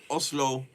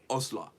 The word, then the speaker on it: Oslo: Olo, Oslo, Oslo.